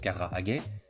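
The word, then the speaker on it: 唐揚げ: Aux questions constitutionnelle le Carahage prononce Carra Haget designe une technique de friture plutôt qu'un plat spécifique.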